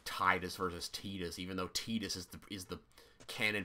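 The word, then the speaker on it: Tidus: His whole thing, Final Fantasy X, has water motifs off the wazoo, so why is it not pronounced like tide?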